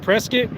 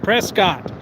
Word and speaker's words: Prescott: this If you live in Prescott, Arizona, and you call it Prescuit, you're an inbredad dumbass. The person that the town is named after, their name is pronounced Prescott.